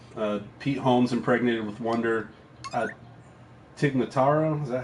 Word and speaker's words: Tig Notaro: Tig Notaro, is that how you pronounce it? Tig Notaro, good one.